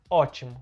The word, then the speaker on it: ótimo: viu ótimo com P, aquele P não era pronunciado, a pronúncia era ótimo, mas tinha um P.